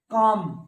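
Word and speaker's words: calm: और लै है नहीं, काम यहां बोल सकते हो आप, आ साउंड, काम लै साउंड नहीं।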